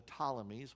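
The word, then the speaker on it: Ptolemies: They're called the Talmies with a silent P at the beginning with based on the general Tammy who was the first ruler.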